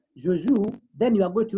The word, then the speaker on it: jouent: So the first three will be joue. And the last one, we had said earlier, we don't pronounce the NT. So it is just like the first one.